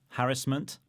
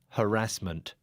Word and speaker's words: harassment: harassment ah third again harassment harassment so I'm putting the stress on the first syllable and I'm putting it on the second so what's going on